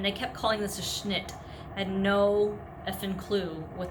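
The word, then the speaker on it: Schnidt: Okay, the way you spell it is S-C-H-N-I-D-T, Schnitt.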